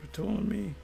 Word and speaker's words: Ptolemy: Okay, Ptolemy, it's the P is silent. Ptolemy, according to scholars, Ptolemy Philopator, 221 to 204 BCE, two failures to harm the Jews.